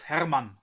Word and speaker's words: Hermann: be church of hermann as a german i have to pronounce it correctly church of hermann are you aware